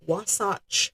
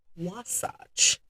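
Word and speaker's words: Wasatch: straighter and supposedly quicker path um through the Wasace Mountains. I had to look up that pronunciation, Wasach.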